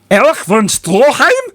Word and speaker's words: Erich von Stroheim: Erich von Stroheim?